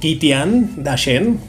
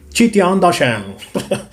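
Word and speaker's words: 齐天大圣: A ver, si no me equivoco, yo le pronunciaba como Kitian Dashen, como cualquier, creo que, persona que es latino, ¿no? Algo así, lo pronunciaría de esa forma, aunque no hay una U ahí para decir Kitian. Pero si no me equivoco, en Google una vez lo averigüé y eso se pronuncia como Chi. Chitian Dashen.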